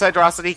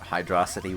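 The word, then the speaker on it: Hydrocity: First off, it's Hydro City. No, it's Hydro... If they wanted it pronounced Hydro City, they would have put a frickin' space there, alright?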